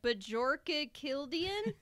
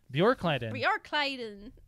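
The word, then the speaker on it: Björkliden: I cannot pronounce it. Bjorka Kildian. I'm really bad at that. You guys, it's BJO with some dots over it. Bjor. Bjorkleiden. Bjorkleiden. Bjorkleiden.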